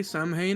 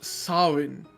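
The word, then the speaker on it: Samhain: now from the office uh that that holiday Sam Hae I don't think it's going to come up again I've just learned it's pronounced sinin oh well it is Celtic so that makes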